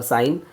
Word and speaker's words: sine: So you know the trigonometric basic ratios are sine ratio SINE, cosine ratio COSINE and tangent ratio. The first three ratios are sine, cosine and tangent ratios.